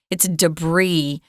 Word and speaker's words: debris: Now, notice here, this word isn't pronounced debris or debris. Debris, I've heard quite often. It's a French word originally, so we have kept the French pronunciation. It's debris.